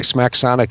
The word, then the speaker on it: Smacsonic: Smacksonic is spelled SMACSONIC, and it is a brand name, not a generic name.